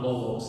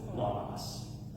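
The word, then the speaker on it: λόγος: And so like the word logos, you'll hear me people say logos, and the way that I was taught was logos. So that O is an O, it's A. So it's not logos, it's logos.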